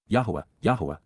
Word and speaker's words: Yahowah: They will revere, Pakad, they will show profound respect for the awe-inspiring nature of, Kal perfect, Yahowah, an accurate pronunciation of God's personal and proper name as